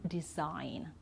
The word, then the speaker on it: design: end okay foreign and design okay so we don't sound the g here okay now with the